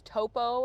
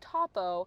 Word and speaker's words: Topo: I thought it was Topo every time I read it in the comics, but apparently it's Topo.